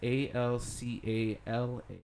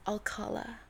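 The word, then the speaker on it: Alcalá: Well, there's supposed to be an Accent accent on the last A. Yeah. Ah, so it's Alcala Yeah, Alcala. with the Yeah. at the end. Or you could say it Americanized.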